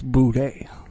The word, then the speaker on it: Boudet: Boudet is how it's spelled. But he's one of the motherfuckers that say it's booty.